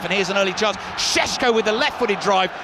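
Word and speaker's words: Šeško: poor finish from him chesko is is written cesco SE KO but I'm told it's pronounced shesko sort of Al Shan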